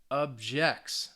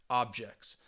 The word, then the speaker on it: objects: t y um society objects the verb stresses on the second syllable objects to organizations ends in the tion syllable the the second to last syllable that's a organizations that use now use is a verb but it's just one syllable so again that's going to have that stress that use people as a noun stresses on the first syllable as objects so in